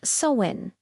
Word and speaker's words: Samhain: The holiday's true origins go way back, long before these modern associations, to an ancient Celtic festival known as Samhain, pronounced Samhain.